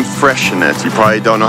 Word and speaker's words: Freixenet: probably seen the name Freixenet. You probably don't know how to pronounce it because it has an X in the middle of it.